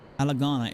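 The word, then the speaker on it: Ala Gannha: This place is called Alagana. Am I pronouncing it right? Cuz it feels just so close to Alagan that I'm like, what's going on? But surely I'm not saying it right. Alagahana. Alagahana. Alagana is correct.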